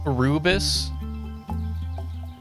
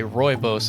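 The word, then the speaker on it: Rooibos: Rubis Ruibus Ribos actually don't know how you pronounce it. I pronounced it rubis. Royos. Okay. Royos apparently.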